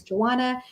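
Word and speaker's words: Johanna: don't know of course my name is joanna with the silent h and i am an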